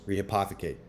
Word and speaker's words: rehypothecate: Rehypothecate.